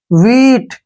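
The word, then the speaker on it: wheat: एच ई ए टी डब्ल्यू एच का उच्चारण व के रूप में करते हैं ई ए को हम यहां पर ई लिखेंगे और टी से ट वीट वीट वीट मींस क्या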